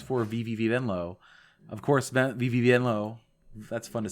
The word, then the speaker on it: Venlo: VVenlow of course VV Venllo that's fun to say venllo I believe is how you say it uh is in the